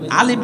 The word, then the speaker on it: আলিফ: উচ্চারণ করেন সর্বপ্রথম আলিফ আমরা তো আলিফের উচ্চারণ করি জিহ্বার সামনের দাঁতে লাগবে নিচের ঠোঁটের পেটের সাথে আলিফ আলিফ শব্দ উচ্চারণ হবে আমি বলতেছি এত আলিফ